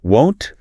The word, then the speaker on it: won't: If you say it wrong and you open your mouth too much, it sounds like the word want, like I want an apple.